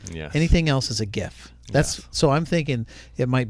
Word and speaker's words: GIF: It's the same with GIF and JIF and YIF.